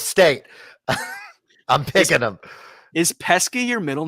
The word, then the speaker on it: Pesky: Is Pesky your middle name? Yeah. A lot of people pronounce it Pesci, but it's actually just Pesky.